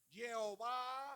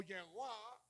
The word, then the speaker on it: Jehová: Holland, la Camas, Jehová, que es la A larga, por eso lee Jehová, fíjame bien, Jehová, o sea, se estira la pronunciación, se llama A larga, la Camas. Entonces, Jehová o Yehová con la W.